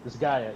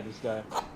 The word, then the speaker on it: Disgaea: I think she had a Disgaea. Was that the name of that game? A collection. Disgaea, yeah. Oh, is it Disgaea? Is that how you say it? Yeah, she had that collection. Yeah, Disgaea.